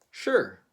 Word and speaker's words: sure: How do Filipinos pronounce this word? Sure. Sure. I'm not so sure about it. I'm not so sure about it. But the Brits pronounce this word a little bit differently. They usually say sure.